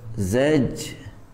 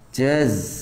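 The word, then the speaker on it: زجرة: Zajratun. Ini Pak, zajratun. Zaj. Tapi ada yang baca jaz.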